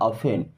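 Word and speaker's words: often: यहाँ, ऑफेन अब देखिए यहाँ पे टी साइलेंट होता है ना, इसे आफ्टर नहीं पढ़ना, ऑफेन।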